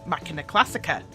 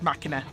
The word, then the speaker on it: Macchina Classica: interested in is the machina classic ax now hopefully I've said that right because there's variations on how it's pronounced machina but I think its machina when I first saw